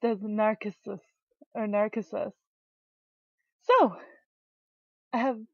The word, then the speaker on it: Narcissu: Hey guys, and welcome to Narcissus, because that's what it says in the Japanese title right there. Instead of Narcissu, whatever, it's actually pronounced as Narcissus, or Narcissus.